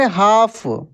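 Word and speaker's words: half: रहे हम दोस्तों काम एच ए एल एफ इसको पढ़ हाफ यहां पर एल साइलेंट रहता है एफ ए एस टी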